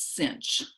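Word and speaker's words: sinh: weird so for example s-i-n-h we pronounce cinch and c-o-s-h you can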